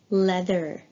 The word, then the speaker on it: leather: It's leather. Please repeat. Leather. Leather. And as you can notice here, although we have an EA together, we pronounce it with a short E, like weather, right?